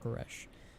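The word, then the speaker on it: K'aresh: it karish koresh koresh it's pronounced quresh yeah I would love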